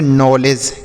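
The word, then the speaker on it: knowledge: तो इसे हम पढ़ेंगे नॉलेज।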